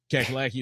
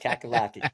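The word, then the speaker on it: Cackalacky: sauce which is an officially licensed collegiate product kakalaki is a family-owned business in Pittsburgh North Carolina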